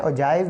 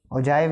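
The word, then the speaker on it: ogive: अच्छा अब हमने यहां पर डॉ करना है ओजाइव या ओगीव ठीक है जो भी आप प्रोनाउंस करना चाहे इसको ओजाइव ऐसे करते हैं ठीक है ओजाइव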